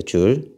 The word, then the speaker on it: 줄: 자, w의 단위는요 줄이에요. 줄. 줄이라고 읽습니다. 줄.